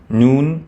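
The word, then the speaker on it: نون: Noon, pronounced like the letter N.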